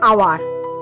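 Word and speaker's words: hour: যেমন অ্যান আওয়ার, এখানে এইচ এর উচ্চারণটা কিন্তু অনুক্ত, উচ্চ আছে বা অনুচ্চারিত, তাই এই যদিও কনসোনেন্ট, এর পূর্বে এ বসার কথা ছিল, কিন্তু এইচটা অনুচ্চারিত হয়েছে, তাই এখানে কিন্তু আওয়ার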